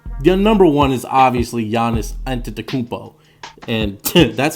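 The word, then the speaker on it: Giannis Antetokounmpo: haven't already guessed you're number one is obviously Yanis entered the kupo and Tim that's how you pronounce it take a look at the screen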